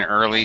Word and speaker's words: early: Yeah, one sound, one vowel sound.